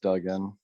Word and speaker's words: Dugan: Senator Kreider, Senator Kreider, Senator Kungel is not here, Senator Dugan, Yes, and just for future rules, it's pronounced Duggan.